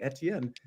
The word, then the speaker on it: Etienne: is actually Fijian and Travis Etienne is actually Etienne not etn okay pronunciation police we have left the building and